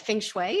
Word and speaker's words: feng shui: So the other thing is you're a I hope I'm pronouncing it right. Feng Shui, is that how you Yes, pronounce it? that's correct.